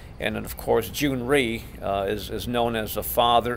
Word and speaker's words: Ree: have their last name instead of Lee will actually have a last name of REE REE okay like in recent or June REE REE Syngman of course